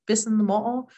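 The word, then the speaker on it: Pisin' Mo'o: community where I’m from Pisin’ Mo’o um there there are two different pronunciations there's the Tohono O’odham pronunciation in our language it's Pisin’ Mo’o actually translates to buffalo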